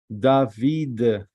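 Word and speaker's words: דוד: the right way to the right way to pronounce the name of David in Hebrew is David this is a DA ah and this is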